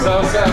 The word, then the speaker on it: South Side: South Side. I gotta get this right. It's like the SOU without the TH.